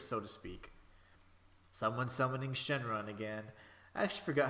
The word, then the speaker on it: Shenron: how like they don't in certain uh Asian languages they don't pronounce like the L it's like more of like an R sound so it's like Shen long but it'd be like Shenron so it's like Shenron